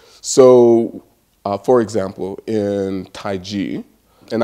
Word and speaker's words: Tai Chi: so for example in taiji and I pronounce it different than most people are used to hearing it because the Europeans wrote it Tai Chi because they couldn't hear this so it's taiji and and it just